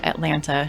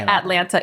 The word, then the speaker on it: Atlanta: See, the way it's spelled is how all Atlanta people say it. We don't say Atlanta, it's Atlanta. Oh, that's Right.